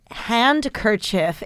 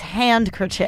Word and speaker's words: handkerchief: and hanker see no there's a silent letter after the N Z what could be there it's spelled hand kerchief H a and aa keer and then you switch up your I and E so it ain't Hank at hand it's hand crochet hand kerchief hand kerchief feel how